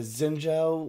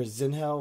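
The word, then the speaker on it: Xin Zhao: one second here uh zenou or zinow however you want to pronounce it his AP scaling with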